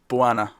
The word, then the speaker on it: Bojana: I'm inclined to think you were right the second time with the silent J. Bojana.